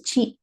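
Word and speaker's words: ち: 1 2 3 4 next is a chi not a th right it is a chi this is going to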